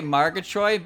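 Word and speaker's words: Margatroid: I say Margatroyd because it's easier to say it like that.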